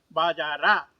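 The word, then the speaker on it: बाज़ार: ಮಕಾರವನ್ನು ಅರ್ಧ ಉಚ್ಚಾರ ಮಾಡುತ್ತೇವೆ ಹಾಗೆ ಎರಡನೇ ಪದವಾದಂತಹ ಬಾಜಾರ್ ಎಂಬ ಶಬ್ದದಲ್ಲಿಯೂ ಕೂಡ ಬಾಜಾರ ಎಂಬುದಾಗಿ ಪೂರ್ತಿ ರ ಎಂಬ ಅಕ್ಷರವನ್ನು ಬರೆದರು ಹೇಳುವಾಗ ನಾವು ಬಾಜಾರ್ ಎಂಬುದಾಗಿ ಹೇಳುತ್ತೇವೆ ಅಂದರೆ ಪೂರ್ಣಾಕ್ಷರವನ್ನು ಬರೆದರು ಕೂಡ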